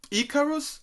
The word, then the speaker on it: Icarus: So tell me more about this song, Icarus. Is it correct? My Oh, yeah.